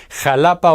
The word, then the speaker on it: Xalapa: It sounds like J when we pronounce Mexico, Mexicali, Xalapa or Oaxaca; but it sounds like